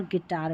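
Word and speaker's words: guitar: और यहां पर यू साइलेंट रहता है। जैसे गैस और गिटार में यू साइलेंट है।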